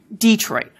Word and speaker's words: Detroit: des des tois becomes Detroit and for a good number of speakers in Michigan the stress has now moved to the first syllable and it's Detroit we see this english'